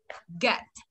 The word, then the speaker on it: get: Đây, chúng ta vào từ bình thường mình đọc là ghét đúng không? Ghét thò lưỡi ngoài này, nhìn thấy chưa? Ghét, thấy chưa? Ghét. Bây giờ thì thu lưỡi lại này. Get. Thấy khác không?